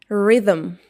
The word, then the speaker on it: rhythm: It is pronounced like rhythm.